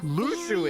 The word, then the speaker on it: Luxu: In the master's playful and mischievous way, he gave his apprentice Luxu a Luxu is how you pronounce it.